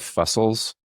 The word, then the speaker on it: Fusel: I feel like a lot of categories of life have fussels, just things that suck.